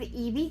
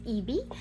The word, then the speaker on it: ieebee: today I have my second video partnering with EV crafts I wanted to make sure I said